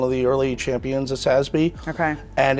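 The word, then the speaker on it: SASB: do you say them is it sby is that how you say it sby y oh ssby all right I'm learning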